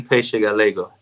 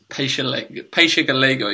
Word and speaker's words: Peixe Galego: Marin Peixe Galego. Peixe Galego, yeah, because it's spelled like Paix ELAG or something like that.